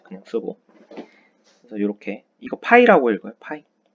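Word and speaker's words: φ: 그래서 이렇게 이거 파이라고 읽어요.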